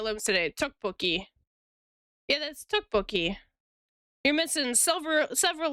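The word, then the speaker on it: tteokbokki: It's spelled like how Kale lives today. Tuki. Yeah, that's toukbookie.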